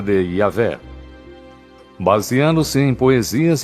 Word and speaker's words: Yahvé: Segundo um relato, Abraão conhecia Deus por seu nome pessoal, que costuma se pronunciar Yahvé.